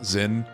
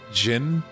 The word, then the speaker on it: Zin: And then the same thing happened with Zin. I was so used to pronouncing his name as Zin. And then the game kind of just pronounces it as Jin. Kind of like a weird in-between Z and J. Jin.